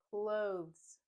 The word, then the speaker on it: clothes: because the z sound is so strong in this word we basically skip it let's try saying the word a couple of times blows clothes clothes I went shopping